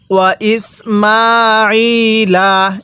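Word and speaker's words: وَإِسْمَاعِيلَ: ইসমালা কিভাবে পড়তে হবে ওয়া ইসমালা এ আইনের মধ্যে আমরা এক আলিফ টান দিব স্মরণ রাখবে স্মরণ রাখবেন যে হরফ ফের উপরে এরকম খাড়া চিহ্ন থাকবে।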